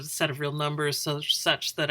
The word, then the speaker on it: such that: And then this guy right here is called such that. That's how you pronounce it.